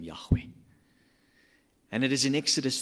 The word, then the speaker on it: Yahweh: theim yod VAV he transliterated as YH wh we pronounce it Yahweh the Old Testament name